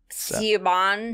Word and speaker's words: Siobhan: I think when I remember hearing that name and then seeing how it was spelled and thinking they were two totally different names. Yeah. Siobhan.